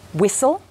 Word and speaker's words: whistle: Some words have a silent letter T. For example, castle, whistle, listen.